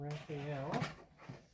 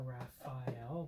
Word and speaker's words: Raphael: the back Mikey and Raphael or Raphael depending on the pronunciation there and there good